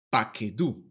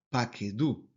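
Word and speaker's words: פָּקְדוּ: Tercero común plural nos va a decir entonces que esa palabra se pronuncia como paquedú, paquedú. Bien, aquí la sílaba tónica es la última sílaba y ahí recae el acento.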